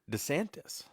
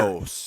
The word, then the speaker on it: DeSantis: My good human is Governor Ron DeSantis. Yeah. Santos. I always want to say it like Dos Santos, but that's not it. It's TIS, not TOS.